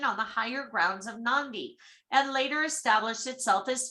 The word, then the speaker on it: Nadi: Nadi, pronounced Nandi, okay, because he had that N, is Fiji's